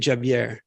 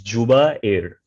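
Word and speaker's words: Jubair: Well, you enunciated Javier, or no? Sorry? Do you pronounce it Javier? No, it's Juba Air, or you can call me Zubi.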